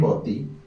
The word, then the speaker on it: Boti: Acá en Boti, prácticamente, como ustedes notarán, existe una acentuación fuerte acá. Aquí.